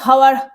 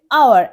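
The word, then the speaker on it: hour: কারণটা আছে এখানে, কারণটা হচ্ছে এখানে এইচ, এই যে এইচ এটা সাইলেন্ট থাকে, হ্যাঁ, আমরা হাওয়ার বলি কখনো না, আমরা বলি আওয়ার, অ্যান আওয়ার, 1 ঘন্টা,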